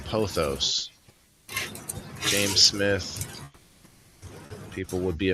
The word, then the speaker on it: Pothos: Pothos. Oh, I'm saying it wrong. Pothos.